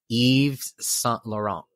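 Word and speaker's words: Yves Saint Laurent: didn't want to get it wrong but it's Eve's son Laurent just so you know Eve is spelled y v e yeah so Christian Dior mentored Eve Saint Laurent and salt Laurent became Christian's personal assistant which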